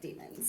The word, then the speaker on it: daemons: demons in this case spelled either d a m o ns or d a i m o ns but pronounced but pronounced like demons.